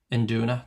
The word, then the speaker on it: induna: Um, Induna, that's how it's pronounced.